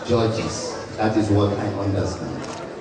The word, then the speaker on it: Georges: Georges Alabi, people will come back to me and say, was that a mistake? Do you mean Georges or George? I always say his name is Georges.